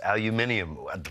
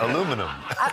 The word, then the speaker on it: aluminium: with the producer on, it's Aluminium, but that's not how I say it. How do you say it? Aluminum. What? Aluminum. Aluminum? Which is wrong.